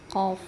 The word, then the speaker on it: ق: Ada ba, jim, dal, tho, dan qof. Ya. Ya, salah satunya yang dibaca tebal adalah qalqalahnya adalah qof. Selanjutnya kita ke pelafalan huruf qof. Qo ya pangkal lidah naik. Qo qi qu aqo.